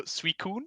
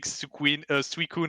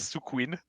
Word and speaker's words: Suicune: So we change the I, like instead of after the first U, it's after the second U. Because when we were children, one friend at our school was just mispronouncing Suicune as Sukuin. So we just started calling it this way.